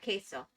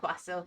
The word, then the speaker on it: queso: I can't help but I hear queso instead of quaso. Yeah, queso. It is not quaso.